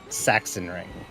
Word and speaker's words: Sachsenring: Also, Sachsenring is pronounced Sachsenring.